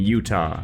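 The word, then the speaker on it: Jutah: In Silent Bomber, we play as a character named Utah, like the state but with a silent J at the front.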